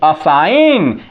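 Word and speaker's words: assign: इसका नहीं किया जा रहा है यहां देखिए असाइन A double S आई जी एन जी का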